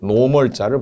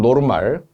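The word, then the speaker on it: normal: 노멀이라고 N자가 부피 단위 앞에 붙어 있으면은 기체 부피를 특별히 나타낼 때 일기압 0도씨 상태일 때의 부피를 노멀자를 붙여요. 노멀. 일본식 발음은 노르말.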